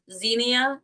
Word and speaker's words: Zinnia: want you to try this program, your program, Zinnia."